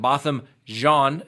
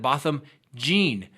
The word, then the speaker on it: Botham Jean: trying to correct me I've always tried to pronounce it Botham John first but then I swear scouts honor that when I listened to the trial his mother was pronouncing it bottom gene so I'm confused I